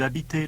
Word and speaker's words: habitez: You say, vous habitez Londres? With E spelt E-Z, but pronounced A on the end. Vous habitez Londres?